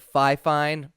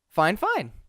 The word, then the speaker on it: FiFine: assume that that is fine fine instead of five fine fifa n-- whatever dude i've heard it called a million different things but actually fine fine you can find this microphone on amazon for